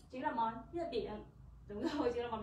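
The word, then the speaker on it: 月饼: Từ này chúng ta đọc là yue bing. Yue bing.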